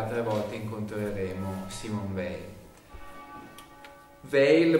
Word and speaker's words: Weil: Weil pronuncia la francese, Weil perché la sua è una famiglia ebrea, e quindi un cognome che probabilmente all'inizio si sarebbe pronunciato Weil, come dicono ancora oggi in Germania, ma appunto nasce e vive in Francia.